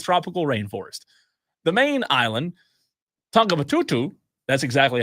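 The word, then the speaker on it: Tongatapu: The main island, Tongabatutu, that's exactly how you pronounce it. Tongabatutu, yes, is protected by lagoons and limestone cliffs.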